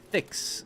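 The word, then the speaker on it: FICS: How do you pronounce F-I-C-S? Fix. Yeah, it's pronounced like fix. F-I-X.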